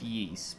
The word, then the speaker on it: Ys: It's pronounced yeast because Ys, but uh I' I've never even heard of it.